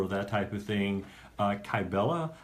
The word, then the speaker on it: Kybella: also offers hi Bella could you explain what kybella is for those of us who don't know